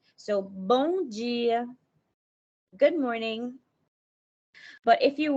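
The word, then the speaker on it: bom dia: say to them is mongia when pronouncing the m i find that it's more like a softer sound like you don't pronounce the m really strong at the end of the word so bonji good morning but if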